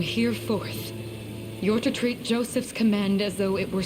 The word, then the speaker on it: Joseph: Joseph, huh? I would have pronounced that Yosef if she hadn't said that.